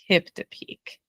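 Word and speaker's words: Kiptopeke: How do you pronounce the name of this park? Kiptopique.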